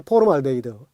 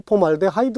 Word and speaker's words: 폼알데하이드: 음 그 다음에 이제 포름알데히드 예 포옹 알데하이드 라고 요즘은 이제 발음을 예 법적으로 폼알데하이드 로 정했습니다 그러니까 봉안 이래야 이력